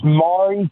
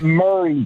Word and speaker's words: Maury: It is Maury County. It is not Murray County. If you Google Murray County, Tennessee, Maury County pulls up. It is not Murray Povich, it's Maury Povich.